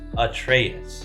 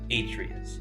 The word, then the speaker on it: Atreus: For those of you who know the series, know that his name is pronounced Atreus, but we've always liked the pronunciation of Atreus.